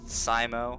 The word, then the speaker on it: Scimo: But the intended pronunciation was Scimo, like S-C-I, as in like science fiction, but, or like whatever,